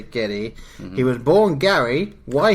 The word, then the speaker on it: Gedde: So I'd say Geddy.